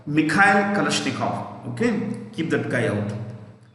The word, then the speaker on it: Kalashnikov: It was invented by a man called Mikhail Kalashnikov. Okay, keep that guy out. AK is automatic. A for automatic. K for Kalashnikov. Kalashnikov. Kalashnikov. KOV. KALASHNIKOV. V को F से pronounce करते हैं.